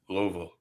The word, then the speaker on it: Louisville: You got to make it more a VUL on the end. Louisville. So yeah, that is two syllables. Louisville. Louisville. Louisville. Louisville.